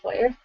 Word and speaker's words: foyer: say rough you do do you say foyer Foy oh is that a thing yes that is the correct pronunciation what do you call